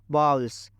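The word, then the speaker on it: bowls: I need to बाउल्स इसको अच्छे से प्रोनाउंस करना यल्स ऐसा कुछ नहीं इसका करेक्ट प्रोनंसिएशन होता है बाउल्स I need to falls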